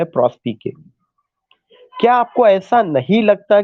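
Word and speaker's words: Prospice: Gone with the poem प्रॉस्पिके। कुछ लोग उसका प्रोनाउंसिएशन प्रॉस्पाइस करेंगे, प्रॉस्पाइस उसका प्रोनाउंसिएशन नहीं है, उसका प्रॉस्पिके है। वह एक लैटिन वर्ड है, तो लैटिन में उसका प्रोनाउंसिएशन प्रॉस्पिके है, उसका मतलब है लुक फॉरवर्ड।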